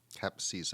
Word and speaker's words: Capcizza: It's spelled CAPCIZZA. Cap Caesar. Cap Caesar Griffin.